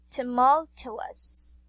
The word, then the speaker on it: tumultuous: Tumultuous. Alright, one more. Say tumultuous. Okay, great job. Very good, Kim. Okay, here, the word tumultuous has 4 syllables. So yes, there are 4 syllables.